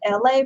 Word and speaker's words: LA: It's me, LA, pronounced like LA, like the city.